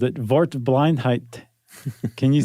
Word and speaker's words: Wortblindheit: You said that it's a W, right? Yeah. And you said it is a V.